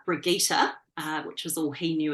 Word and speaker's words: Brigitta: And I was raised with it being pronounced Brigitta, which is the Germanic pronunciation.